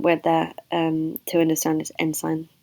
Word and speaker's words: ancient: So the most important word there to understand is ensign, which looks like the word ancient, pronounced ensign.